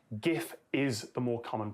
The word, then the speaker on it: GIF: It is more popular than GIF, but it's not a landslide.